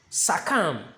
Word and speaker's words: succumb: Number four is succumb, succumb. The second U over here is ah, but the first one is so you say succumb, succumb, succumb, not succumb or succumb.